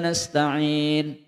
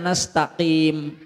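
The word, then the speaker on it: نستعين: Alhamdu bukan alkamdu ya arrahmanirrahim kan nanti salah di belajar arrahmanirrahim maiki yaumiddin iyaka na'budu wa iyyaka nasta'in apa maning iyaka na'budu wa iyyaka nastaqim salah bacanya ya ihdinasiratal Bisa salah kalau enggak belajar sedapat-dapatnya telinga.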